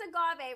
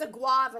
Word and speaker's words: agave: is starting to add i think that's agave right it's a guava as i like to say okay i called that but you give people the the um incorrect pronunciation you know what